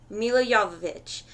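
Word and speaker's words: Milla Jovovich: Alright, my favorite actress, Mila Jovovich. And don't let anybody tell you that is not how you say her name.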